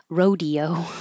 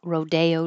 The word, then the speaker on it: Rodeo Drive: make a mistake and this is always Rodeo unless you're talking about Rodeo Drive in California then it's pronounced differently in that situation so I don't know